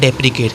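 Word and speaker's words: deprecate: विरोध करना, वो हमारा डेप्रिकेट। आप ये डेप्रिकेट है, और एक डेप्रिशिएट होता है। डेप्रिकेट और डेप्रिशिएट में प्रोनाउंसिएशन का ही अंतर है, और ई और आई का अंतर है।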